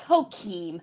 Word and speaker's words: Joachim: all the time and it was called joachim okay it's hokim i don't give a what st louis people say i'm not from here and i think it's called hakeem and who keem phoenix